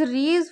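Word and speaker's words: Riesz: आज की first theorem is रीज Fisher theorem. Guys ऐसी साइलेंट हियर।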